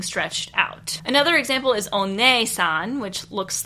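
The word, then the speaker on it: お姉さん: Now, your English brain might look at this and say, hey, this is pronounced oni-san because that double E means something completely different to us than it does to the Japanese people. But this is not the case. It is one-san.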